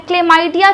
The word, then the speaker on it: chlamydia: और इस लेक्चर में हम पढ़ने वाले हैं क्ले माइडिया के बारे में तो क्ले माइडिया को हम पहले लिख ले स्पेलिंग क्या होती है सी एच एल ए